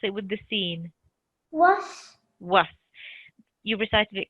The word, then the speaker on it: و: Was. Was. You recited it correctly. Often it's mispronounced or wrongly said as a v, like vasvasil. So it's like a letter W, wa, as you rightly said, was.